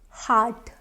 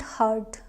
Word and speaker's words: heart: And now second last word is heart, heart, heart, not hurt. I have heard few people saying it hurt. No, it's heart, heartbreak.